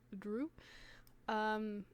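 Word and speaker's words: Dru: I did spell it D-R-U, like Gru, except with a D, so it's Drew.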